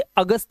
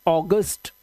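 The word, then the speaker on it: August: अब देखिए यहां पर जब किसी वर्ड में ए यू आए तो ए यू को ओ से पढ़ना है। ठीक है? और तभी हमारा एक क्या है? मंथ एक महीना है। इसे आप क्या पढ़ते हो? ए यू जी यू एस T. Hindi में तो इसे अगस्त पढ़ते हैं। अगस्त अ की आवाज। लेकिन ये इंग्लिश का वर्ड है। तो इसे आप पढ़ते हैं ऑगस्ट।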